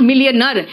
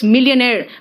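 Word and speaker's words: millionaire: मिलियनेयर है, इट्स नॉट मिलियनर, इट इज मिलियनेयर। मिलियनर नहीं है, इट्स मिलियनेयर।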